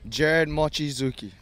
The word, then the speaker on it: Gered Mochizuki: Gered Mochizuki. Gered Mochizuki.